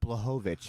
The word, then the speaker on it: Blachowicz: Jan Blachowicz is how you say Oh, it.